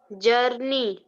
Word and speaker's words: journey: जर्नी नहीं, जर्नी. जे Journey. आग. आग पहले है, एन बाद में है. First you have to Yes, sir. Pronounce आग sound, then N. Now what will you से? Journey. नो. जॉन नहीं, जर.